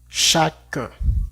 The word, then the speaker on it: chacun: Entonces tendríamos que cerrar la boca en este caso también y sin escuchar el sonido de la nal. Por ejemplo, diríamos jugle como chacun.